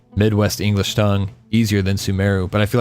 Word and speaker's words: Sumeru: rolls off my Midwest English tongue easier than sumero but I feel like sumero is the right pronunciation every so often comes in yagarbaha day